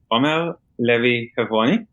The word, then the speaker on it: Omer Levi Hevroni: so thank you very much so as you pronounce it well my name is om Lev heav and as you say I'm from Israel so